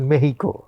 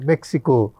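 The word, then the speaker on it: México: নোক্তা মানে এই যেমন আপনি বললেন কুবা আমাদের সাধারণ মানুষ তো কিউবা চেনে আপনারা বলেন মেহিকো আমরা মেক্সিকো বলতেই কমফর্টেবল হয়ে যায় ঠিকই আছে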